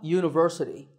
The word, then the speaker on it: university: are a little tricky number seven is a university because even though university starts with the letter